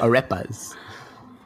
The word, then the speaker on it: arepa: we stop saying ripe no arepas it's i always pronounce it a repa but uh but yeah it's a food you can google it like it's a-r-e-p-a it's basically like for